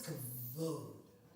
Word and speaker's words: kavod: I think it's kavod. Kavod. Yes. Yes.